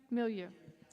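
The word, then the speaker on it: milieu: Uh, very much the Unitarian Mealoo Millu. Is that how you say it? Me? Millu.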